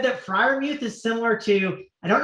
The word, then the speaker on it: Freiermuth: I don't even how do you pronounce that name, Mangone? Freiermuth. Fryermuth, excuse me.